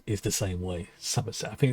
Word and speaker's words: Summerset: on that one but generally the way it's pronounced is summer as in s-u-m but it's spell s-o-m i think now i'm